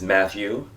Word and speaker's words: Matthew: to know about me my name is matthew use both syllables because I'm biblical as